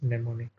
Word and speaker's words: mnemonic: So we pronounce this as mnemonic.